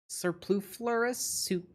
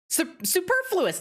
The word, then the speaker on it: superfluous: Surpluflorous? How do you say that? Superfluous, thank you.